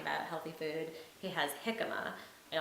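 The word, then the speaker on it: jícama: And so on the H page where he's talking about healthy food, he has jicama, and although it's written with a J, you pronounce it with a h.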